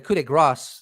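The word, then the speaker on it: coup de grâce: epiphany that the coup de grace, or the coup de grace, is actually how you pronounce it, that civilian analyst Matthew Pines was referencing might be James Clapper.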